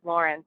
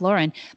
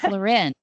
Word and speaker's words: Lauren: never heard of Ralph Lauren but I didn't even know that people say his name wrong all the time a lot of people say Ralph luren so now you can